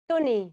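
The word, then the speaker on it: Thony: name is sony t-h-o-n-y how do you how do you pronounce that tony tony right yeah yeah that's what i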